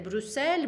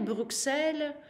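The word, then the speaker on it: Bruxelles: Брюссель, Брюксель.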